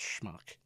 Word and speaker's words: schmuck: I was telling my daughter that it's not pronounced smoke it's pronounced schmuck and then I was called the schmuck that